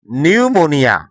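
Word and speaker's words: pneumonia: তো তোমরা যখন ইংরেজি পড়বে তখন এই পি এর পরে যখন এন অথবা এস দেখবে তখন তোমরা এই পি এর উচ্চারণ করবে না।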